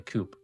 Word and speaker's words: coup: Your right-hand man might be planning a coupe. You execute two of your men based. The bro say coupe. It's a coup. It's pronounced a coup. The P is silent.